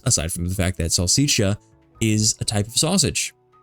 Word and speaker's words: salsiccia: Oh, what is salsiccia? It's a sausage. And next thing, that word pronunciation, salsiccia. Sal rhymes with pal. Sick sounds like C. Sia sounds like cha or cha. Salsiccia.